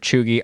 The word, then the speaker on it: cheugy: if you weren't watching our previous episodes it's pronounced chugi it's to describe somebody who's untrendy out of